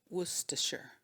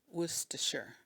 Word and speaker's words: Worcestershire: Worcestershire Worcestershire Worcestershire the way you pronounce this will vary depending on where you're from most people do not pronounce the R so if someone asks